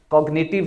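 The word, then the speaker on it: cognitive: तो आ रहा है n से पहले हमें जी को साइलेंट करना चाहिए लेकिन नहीं होगा क्योंकि मैंने आपको बताया कि हमेशा एक्सेप्शन होती है कॉग्निटिव है इसको हम कॉग्निटिव पढ़ेंगे इसके अलावा ये सिग्नेचर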